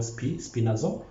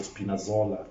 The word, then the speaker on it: Spinazzola: for me to pronounce it, but Frankie can pronounce it for me. The guy who got an injury is called Spinazzola. Yeah, so Spinazzola, thank you for helping me with that name.